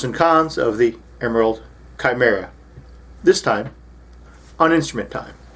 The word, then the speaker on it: Chimera: As we know from Greek mythology, the Chimera, sometimes pronounced Chimera in American English, was a monster from Greek mythology, generally depicted as having multiple heads.